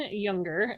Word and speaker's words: Junger: It's by Sebastian Junger, and I may have mispronounced his last name because it's spelled with a J, but I'm assuming it's pronounced with a Y.